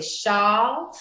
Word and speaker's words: Shaw: Is that how we pronounce it, Karen Shaw? Yes, that's right. Makes me like the thing we put over our shoulders. So, you know, she's American though, right? So she might say Shaw.